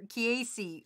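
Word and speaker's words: Keese: Spirit Keys says, you said it right. I'm either Keys or Kiesi on pronunciation. It's a pun off the Zelda enemy.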